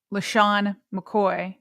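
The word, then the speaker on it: LeSean McCoy: Question I kind of have like when people like Lo um uh Lehan McCoy, did I just say his name right?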